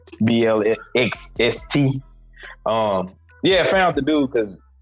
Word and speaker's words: Blxst: We ain't gonna try to pronounce that no more. We're just gonna say what the letters say. Blxst.